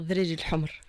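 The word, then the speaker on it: ذراري الحمر: On va, voilà, on le dit, il faut dire Dreri al-Humr.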